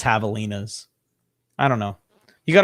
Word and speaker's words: Javelinas: I know it's pronounced with an H, but I don't know if that's how people in Arizona say. I think it's Javelinas.